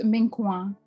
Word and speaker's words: Menkoa: I mean, it's MENKOA. MENKOA. MENKOA.